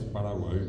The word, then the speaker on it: Paraguay: La palabra es Paraguay con I, el acento en la I.